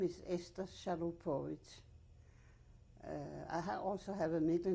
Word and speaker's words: Chalupovitsch: We are interviewing survivor Esther Salupovic. Salupovic is Chalupovitsch. is spelled.